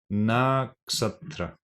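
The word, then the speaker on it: Nakṣatra: And this word here is pronounced as Naksatra. Naksatra Mandala.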